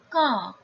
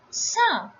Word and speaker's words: ça: If this cédille accent is not there, it will be pronounced as ka. But with this cédille accent, it becomes sa.